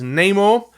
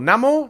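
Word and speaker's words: Namor: it is neymar or namo neymar i've never been fully clear how to pronounce that i'm gonna go with namo uh this is the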